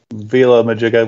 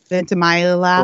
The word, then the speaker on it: Ventimiglia: do is look at the scene with Milo Villa-Majiga. Like, how do you say his last name? I have no idea. You know what I'm talking about? Ventimiglia.